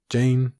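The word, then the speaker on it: Jeyne: castle theon thinks this jane jane it rhymes with pain how woefully true that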